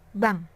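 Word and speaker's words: bang: Pada kata yang pertama, itu ditulis B-A-N-K dan bacanya bank. Kemudian, pada contoh yang kedua, yaitu B-A-N-G dan bacanya juga bank.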